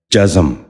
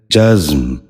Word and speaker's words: جزم: کا نواں لفظ ہے جزم۔ یہ غلط تلفظ ہے، درست تلفظ ہے جزم۔ دوبارہ سنیے، جزم۔ بچوں